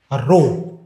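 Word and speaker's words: rho: देखो क्या मतलब है इसका, पहले तो इसका प्रोनाउंसिएशन बोलोगे क्या, तो इसको बोलते हैं रो। ये इसका प्रोनाउंसिएशन है।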